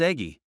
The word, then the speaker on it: Eggy: teacher name of M eggy y'all should know you pronounced the e on the end so eggy rhymes with Ley and I'll be darned